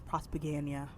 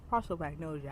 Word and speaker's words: prosopagnosia: who has uh prosopagnosia, which I was pronouncing in my reading vlog as prosopagnosia. What the is prosopagnosia? It's pros- prosopagnosia.